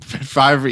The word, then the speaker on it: Favre: Brett Favrey. Favy.